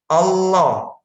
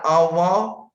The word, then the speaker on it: Allah: Almo benda seperti itu yang benar Allah Allah bukan Allah atau Allah atau Allah atau kalau orang Permisi ada saudara kita dari Jawa Barat misalnya itu pakai ol0 Allah itu ini harus kita